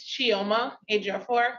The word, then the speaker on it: Chioma Ejiofor: Last name is spelled Ejiof as in Frank O-R. Just like it sounds. Yes. Yeah, very phonetic.